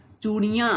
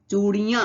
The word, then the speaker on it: चूड़ियां: यहां चंद्रबिंदु लगी है जिसे कहते हैं अनुनासिक तो जब भी इस तरह की मदद चिन्ह कहीं लगा हो तो उसका उच्चारण थोड़ा सा नाक से होता है चूड़ियां कि चूड़ियां तो आइए रावत तो